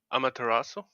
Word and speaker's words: Amaterasu: So, I have a few things I want to go through, and my name is pronounced Amaterasu. Yeah. It's like Croncy got it. Yeah. I put too much emphasis on the U, but if you're a Naruto fan or something like that, you would know.